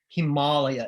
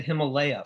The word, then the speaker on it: Himalaya: Himalaya is how you would pronounce it if you were following the Sanskrit. But I, as someone who grew up in Fort Worth, Texas, said Himalaya for a long time. And I think that's probably what you'll hear most of the time, but Himalaya is the way to pronounce it if you're really interested in getting it just right.